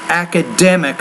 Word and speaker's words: academic: let's say academic so the stress is academic on that third syllable not the first syllable for the students however